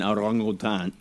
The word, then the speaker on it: orangutan: Ooh, sorry, it was an orangutan. I'm sorry. What the fuck was that pronunciation?